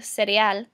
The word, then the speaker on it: cereal: You can also eat el cereal, which looks exactly the same in English as cereal, but in Spanish it's pronounced el cereal.